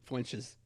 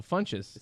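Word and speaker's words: Funchess: mean she's she's named flinches no Funches when she said there's no L in it but I spell flinches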